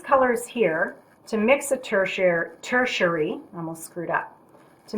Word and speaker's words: tertiary: Now, when I studied color theory in college, my teacher pronounced it tertiary, but I Googled it last night, and the proper way to say it, I don't even remember her name. It's been a long time. It's tertiary. Anyway, so from these colors